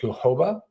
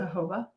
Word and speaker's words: jojoba: The organic jojoba, is that how you pronounce it? Jojoba. According to Google. But it's J-O-J. The Jojoba. Yeah. Jojoba. So I used to always just call it jojoba oil.